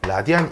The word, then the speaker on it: rad: 약속을 하는거예요 그 단위는 rad 라고 쓰고 라디안 이라고 읽는다 라고 이렇게 될 알고